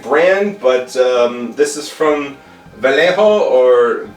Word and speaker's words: Vallejo: vallejo i can't remember there's a double l in there and i'm pronouncing it wrong and i know that i know that j is an h it's a spanish company i think it's vallejo i could be wrong on that but i